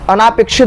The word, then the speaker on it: अनपेक्षित: अनापेक्षित, अनापेक्षित नहीं होता, अनपेक्षित होता है, अनपेक्षित, अनापेक्षित नहीं कोई वर्ड है।